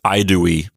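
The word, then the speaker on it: Haedui: H here and say Haidui. But anyway, Haidui is the same as Idui. Either way, I don't think the H was pronounced very strongly at the beginning of a word, so it probably sounded something like Idui anyway.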